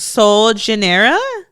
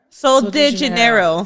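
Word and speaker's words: Sol de Janeiro: Soul Janeera. And they have like body sprays. They have like lotions. I said it right. Soul de Janeiro.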